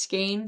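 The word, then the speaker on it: skein: I have only ever pronounced it as skain.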